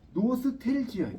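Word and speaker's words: 노스탤지어: 저 푸른 해원을 향하여 흔드는 노스탈자. 이 노스탈자는 노스텔지예요. 노스텔지. 그걸 일본식 그룹 발음한 거예요.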